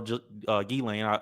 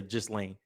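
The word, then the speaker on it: Ghislaine: Yeah, Maxwell Gilane. I just learned how to say her name. I used to say just lane or ge lane gain Maxwell her whole situation we already reported on.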